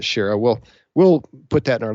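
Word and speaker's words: Shaara: There's a really good book where they talk about this called To the Last Man by Jeff Shara, or Shara. He pronounces it Shara.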